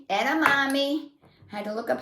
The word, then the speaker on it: edamame: idea now this is my choice it's called edamame edamame I had to look up how to say